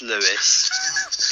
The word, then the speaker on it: Louis: It's basically it's spelled Louis but pronounced Lewis.